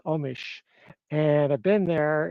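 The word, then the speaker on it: Omiš: So, um, the decision mentions this, um, city named Omis in Croatia. It's actually pronounced Omish, and I've been there.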